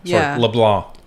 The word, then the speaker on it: LeBlanc: accepted the the role L blah cuz this C is silent um so so there is a a chain of command my guess is it would fall to Leblon so uh in that